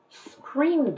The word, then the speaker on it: screamed: She screamed a lot. She screamed a lot. The sound there is just a D.